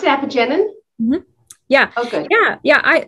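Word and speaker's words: apigenin: okay yes yeah is that how you you pronounce it epigenin yeah okay yeah yeah i so i don't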